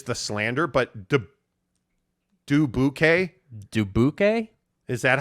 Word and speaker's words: Dubuque: story keith carl says people get pissed when outsiders make fun and pronounce it as do boo k wait people really pronounce it though it's dubuque bro like i mean any